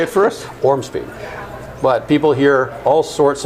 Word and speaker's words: Ormsby: is not difficult it's six letters and you pronounce everyone in order say it first orm speed but people hear all sorts of versions of